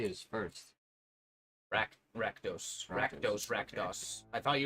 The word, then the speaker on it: Rakdos: Rakdos. Rakdos, Rakdos. I thought you would pronounce. I thought My you said bad. No, the- he said the he O and kept the saying Radkos.